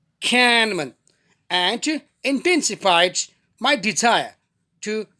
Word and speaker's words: Kahneman: slow by daniel kahneman they were spelling k-a-h-n-e-m-a-n but the pronunciation is cannabin and intensified my desire